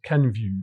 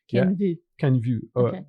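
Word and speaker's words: Kenvue: Ken view. It's like view v view v view v v view v view as in French. The French view. Oh. Ken view.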